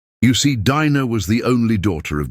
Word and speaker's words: Dinah: Her name is Dina, though most people call her Dena now, like the world even forgot how to say it right.